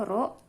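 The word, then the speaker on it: ρ: Sama dengan, ini dibacanya Rho.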